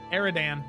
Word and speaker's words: Aridan: Is it Adrien or Aridan? I'm just looking at the legend keeper. Aridan. It's Aridan. Don't want to say his name wrong.